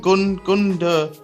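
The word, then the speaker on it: Gündoğan: Gundogan. Gundogan.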